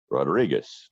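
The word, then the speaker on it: Rodríguez: D RI qu easy in Spanish you pronounce it Rodriguez and in Portuguese it's Rodriques so if you cannot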